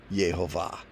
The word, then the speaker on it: Yehovah: There it is with the vowel pointers, pronounced Yehovah. Love that picture.